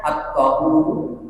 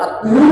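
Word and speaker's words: الطُّهور: Bukan an-nazafatu minal iman, tapi hadisnya at-tahuru syatrul iman. Kebersihan itu sebagian daripada iman. Ini hadisnya sebenarnya. Qala As-Suhaimi, berkata Imam As-Suhaimi, at-tahuru bidomil ta. Oh berarti at-tuhur bacanya. At-tuhur bukan at-tahur, tapi at-tuhur syatrul iman.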